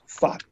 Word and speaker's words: 法: And it's pronounced, of course, as fa, and you can see here,In this one word, a number of elements.